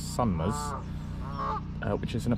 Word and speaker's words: Sumners: place called sunmmer pond it's not sumers it's spelled s u n m e r s sunmas uh which is in